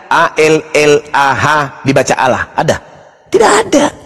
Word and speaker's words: Allah: Kalau menggunakan ejaan tajwid, maka bacaannya Allah. Tidak ada huruf O di situ. Ini juga kesalahan orang-orang yang membaca huruf Arab menggunakan kata huruf O. Tidak ada huruf O dalam bahasa Arab.